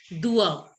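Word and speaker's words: doigts: Fingers are pronounced as dua. Dua. Dua. Spelling is this, but you pronounce it as dua.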